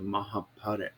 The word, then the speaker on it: Mahabharata: the series in india called the mahabharat or otherwise pronounced as the mahabharata which was a 16